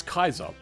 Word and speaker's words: Caesar: during war or the actual technical trans uh pronunciation is Kaiser.